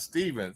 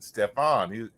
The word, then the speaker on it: Stefan: Not Steven, Stefan.